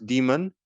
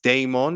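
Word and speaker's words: Daemon: anime influenced it's called my demon not demon it's demon it's spelled D a m o n so it's my demon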